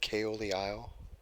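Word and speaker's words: Caol Ila: me but the person on the story the KO of the aisle and what is the other one I just had you guys ever had kayo the aisle it's spelled Kol but wrong CA o L it's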